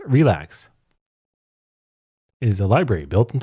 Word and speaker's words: RLax: at source code okay so arax pronounced relax is a library built